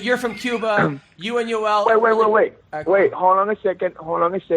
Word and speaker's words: Yoel: Yeah, he sound like he pronounced it like it's a Jewish name, like Saul or Saul or whatever. He called him Yoel, and I tried to tell him it's Yoel, porra caralho.